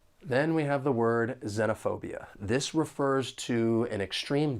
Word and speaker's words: xenophobia: The word has five syllables and the stress is on the third syllable. Xenophobia. Now, there are two accepted pronunciations for this noun. You could say xenophobia like I've been saying or xenophobia. Either one is okay. Both are accepted.